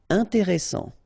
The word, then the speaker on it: intéressant: Intéressant, double S, same thing here, S, strong, and it opens the pronunciation of your E, intéressant, final T not pronounced.